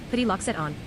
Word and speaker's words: Petit Lac Sainte-Anne: Petit Lac Sainte-Anne, French pronunciation, Petit Lac Sainte-Anne, is an unorganized territory in the Canadian province of Quebec, located in the Kamouraska Regional County Municipality.